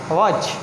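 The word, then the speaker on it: watch: Next this is वॉच, यहाँ पे भी टी का साउंड नहीं आ रहा, सो दिस इज़ वॉच।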